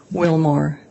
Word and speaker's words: Willmore: your direct examination state your name and spell it for the record c-a-m-m-y Wilmar w-i-l-l-m-o-r-e where are you currently employed I am